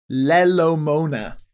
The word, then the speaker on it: Lelo Mona: say that one again lelo mona now is that two words or all one word that's one word and the the second syllable is mona as if someone is moaning yes so it's but